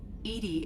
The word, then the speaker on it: EDI: a specific inquiry why are you named edie edie is the phonetic pronunciation of that is an acronym for enhanced